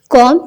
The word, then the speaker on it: comb: अपनी के लिए अपनी, कॉम कंघी, इसमें बी की आवाज साइलेंट है, नहीं निकलेगी। एक दिन पत्नी ने पति